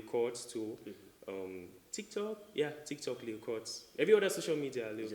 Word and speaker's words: Pchords: I'm on Facebook as Chords, Pchords. The P is silent. A lot of people say Pchords.